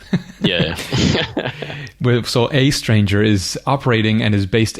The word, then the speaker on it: aeStranger: me in a second how do you pronounce a stranger it's just a stranger it's just that that sort of letter combination so it's a stranger it's just an interesting